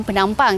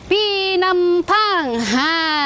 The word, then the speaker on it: Penampang: sebab untuk penampang ni walaupun ejaannya p p kan bunyinya macam penampang tapi sebutan yang betul ialah pinampang Kebanyakan orang kata orang-orang